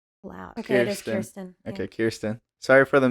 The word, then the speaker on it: Kirsten: Okay, it is Kirsten. Okay, Kirsten. Sorry for the mispronunciation earlier, Kirsten.